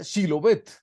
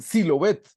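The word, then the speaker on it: שבלת: Efraín eres ef frateo no pronuncia shilov bet y ellos no podían pronunciar la entonces decían silob bet entonces dice aquí porque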